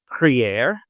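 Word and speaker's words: prière: Uh but I think it quite suffices just to say um that the keyword in the title is Priier.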